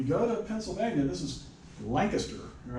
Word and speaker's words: Lancaster: Lancaster. That's what it looks like, doesn't it? And I used to live in Lancaster County, Nebraska, okay? They call it Lancaster County.